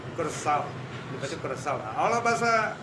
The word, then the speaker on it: coração: Kalau bahasa Portugis coração. Coração. Tulisannya C O R A, C yang ada ekor, A O, coração.